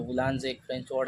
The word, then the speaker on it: boulanger: Bakery का head होते हैं शेफ बुलानजे। इनका जो बुलानजे एक फ्रेंच वर्ड है, इसका स्पेलिंग होता है BOULANGER।